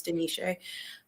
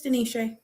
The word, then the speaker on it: De'Neshay: of those years I've been like, "No, it's Denise." Um, I feel like it doesn't take any It's not an emotional labor for me. Nope, it's Denise.